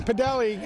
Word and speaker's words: Podelli: name right though frank i'm doing podelli i used to give it the french ending but uh he came up to me and said nope wrong way mr t it's okay